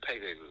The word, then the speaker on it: Peleliu: and atoll, really, called Peleliu. It's spelled P-E-L-E. P-E-L-E-L. Let me start all over again while we're all confused. P-E-L-E-L-I-U. I'm pronouncing it Peleliu. That's how it's pronounced in the U.S. documentaries.